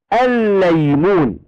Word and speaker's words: الليمون: نعم، الكلمة الثانية تصبح الليمون. الليمون تكتب بلامان هكذا ونضع الشدة على اللام الثانية، وفي النطق تنطقها لاما واحدة مشددة. كلمة ليس تصبح ماذا؟